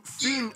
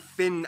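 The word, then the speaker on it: Fyn: it is connected to fiend island not finn island by the great belt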